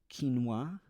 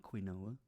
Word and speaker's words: quinoa: items they bought there quinoa I said said it right it's not quoa and almond milk I